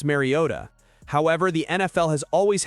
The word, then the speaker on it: Mariota: But when he repeated his own name, heavily emphasized the T exactly as Trico and Collinsworth had pronounced it.